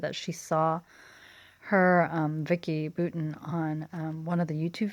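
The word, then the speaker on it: Boutin: she saw her Vicky Booton on one of the YouTube videos and she was saying I was so disappointed she totally Americanized her last name and she introduced herself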